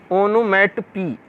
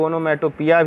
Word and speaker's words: onomatopoeia: अगला figure of speech है हमारा ओनोमैटोपी। आप देखिए, इसको कुछ लोग ओनोमैटोपिया भी बोलते हैं, ऐसा नहीं है। इसका हमने प्रोनाउंस यहाँ पे लिख दिया हुआ, ओनोमैटोपी।